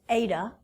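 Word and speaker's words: η: demand has a symbol looks like that it's pronounced Ada a Greek letter adaa is a fraction percent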